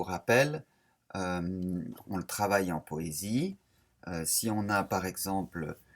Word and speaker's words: poésie: Poésie, il y a 4 syllabes. Po-é-zi-e.